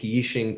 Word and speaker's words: Yixing: And 80s clay is in the 80s, they call it 80s clay because up until the 1980s, they would make Yixing teapots. It's spelled Y-I-X-I-N-G, and it's the region of China where these come from originally, and now it's the name of the clay.